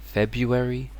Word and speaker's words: February: I think here yeah the most people drop the first hour like February but it's February but um still in general people will say February I hear it a lot but um February is correct and this one again